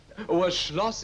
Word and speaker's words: Schloss: working on the farm Schloss is how you say a castle I actually got a